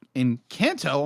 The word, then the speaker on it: Encanto: But apparently in Kanto, I'm going to say this right.